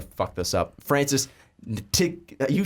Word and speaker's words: Ntilikina: Francis Ntilikina.